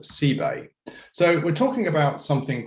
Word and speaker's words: CebAI: some issues with this i'm referring to this pronunciation c bay ebay where the c comes in that you'll find on the coast and i include exhibit a here in terms of how it might be recognized and pronounced i am not talking about c a i or